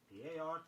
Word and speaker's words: particular: The next word is particular, P-A-R-T-I-C-U-L-A-R. Be sure you get the y sound in it, particular.